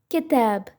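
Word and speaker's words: كِتَاب: malik next we have kitab kitab which means book in the word kitab kya has kesra and it will be pronounced as ki and the rest as tab ba and it will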